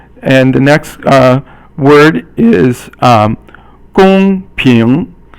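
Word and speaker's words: 公平: And the next word is gong ping, and so gong is first tone and ping is second tone.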